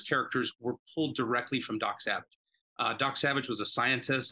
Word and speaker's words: Dok Sauvage: And ours is called Dok Sauvage. We spell it differently. It's Dok with a K, so it's D-O-K. and it's Savage with a U, or Sauvage.